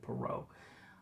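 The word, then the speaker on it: Poirot: At one point I was saying his name wrong, but it's definitely Perau.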